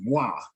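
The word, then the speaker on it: ו: They use wa. I mean, they use va. They use va. They use va. But like Moreh Samak and I, we kind of lean towards what we believe the ancients would say. The ancients never said va. The ancients said wa. So we kind of we accept both Okay.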